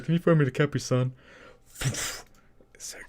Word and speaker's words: Capri Sun: So you Like say capris. Capris. E. It's spelled I. It's CAPRI.